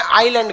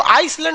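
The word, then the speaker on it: island: द्वीप को इंग्लिश में आइलैंड कहते हैं। क्या कहते हैं? आइलैंड। आइलैंड में ना एस साइलेंट रहता है। इसको आइसलैंड नहीं पढ़िएगा, आइलैंड।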